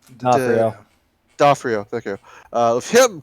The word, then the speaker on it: D'Onofrio: But with the onset of Vincent, how do you pronounce his last name? D'Onofrio.